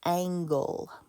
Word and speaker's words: angle: the second one is angle okay this is a soft g it has the j sound this is a hard g it has the gu sound be careful with that